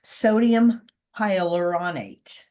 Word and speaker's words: sodium hyaluronate: extract sodium H now let me let me pronounce this right sodium hyaluronate okay that is for the conditioning and um